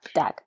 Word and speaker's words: Dag: Did you have, when you meet, is it Dag or Doug? Dag.